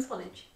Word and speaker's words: Swanage: How is the pronunciation? Swanage.